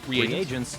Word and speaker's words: reagents: That was me saying, yeah, to me uh uh retroactively mispronouncing uh I I said it as regions, but then I was like, oh wait, it's probably reagents.